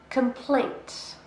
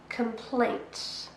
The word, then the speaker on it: complaint: Complaint. Complaint. A noun, 2 syllables, and we stress the second. Complaint.